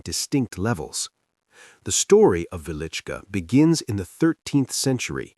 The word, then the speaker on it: Wieliczka: Hidden beneath the quiet town of Wieliczka in southern Poland lies one of the most extraordinary underground worlds ever created by human hands. Often misspelled or mispronounced as Wiczka, the Wieliczka salt mine